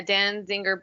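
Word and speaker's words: Danziger: so I don't say it incorrectly um yeah Dan Zinger bridge I'm pretty sure that's it it's loading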